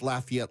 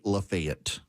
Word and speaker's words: Lafayette: And so I know it's Lafayette, Louisiana. In Georgia, for reasons that flumx me to no end, they say Lefayet.